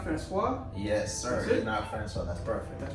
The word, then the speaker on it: François: been good i'm good so how do i pronounce my whole names you not francois yes sir that's perfect that's perfect that's it